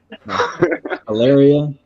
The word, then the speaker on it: Alaria: Blake Ari Arya hilarious that's like malaria but without the m alaria and leobard and with